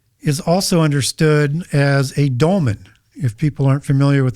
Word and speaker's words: dolmen: Portal is also understood as a dolmen. If people aren't familiar with that term, it's spelled D-O-L-M-E-N.